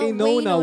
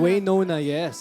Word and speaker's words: Waynona: Is that how you pronounce? No. Wayona. Waynona.